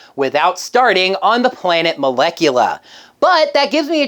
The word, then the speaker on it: Malechula: That can still be pronounced Molecula. I just found it weird.